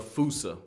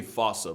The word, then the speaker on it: fossa: Bane to lemurs everywhere the fusa although it is spelling I'm pretty sure it's actually fossa but the day I